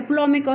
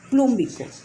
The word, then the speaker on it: plúmbico: Entonces, comenzamos con el negativo, luego tenemos el plomo, y no se dice plómico, sino plum, como le dije anteriormente, la raíz plum, y como trabaja con la mayor, plúmbico.